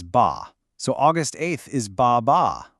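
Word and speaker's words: 八: Because the Mandarin pronunciation of the number eight is ba.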